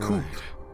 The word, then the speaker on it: coup: could have started a coup that's pronounced cool cool to use the